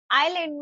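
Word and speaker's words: island: ऐसे ही आइलैंड में एस को प्रोनाउंस नहीं किया जाता।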